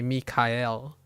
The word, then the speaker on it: Michael: Mel it's it's like it's spelled Michael and we're pronouncing it Michael but it can be Mikel right Mikel and also mik you